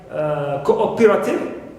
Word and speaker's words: cooperative: is another neutal prefix example in words like Cooperative stress is on o not on Co cohabit on ha not